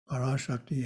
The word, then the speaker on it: Parashakti: Parashakti has a long A in the middle, and Parashiva doesn't.